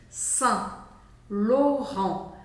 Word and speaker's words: Saint Laurent: barata quente s loron e o t no final não é pronunciado taca vermelho nele agora